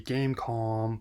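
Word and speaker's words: Game.com: Tiger Electronics with the gamecom the dot is silent actually tried to win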